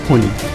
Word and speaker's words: ফণী: ইংরাজিতে FANI হলেও বাংলায় উচ্চারণটা হবে ফণী।